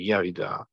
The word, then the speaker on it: Yahudah: And Yahudah is how you would have pronounced it properly, Yahudah.